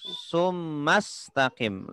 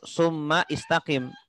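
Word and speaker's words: ثم استقم: washol kosong jadi kenal Hamzah washol kalau ditengah bacaan tidak tidak perlu dibaca tsummastaqim langsung tunggu tsummastaqim tidak perlu Suma istaqim Oh transfer langsung harusnya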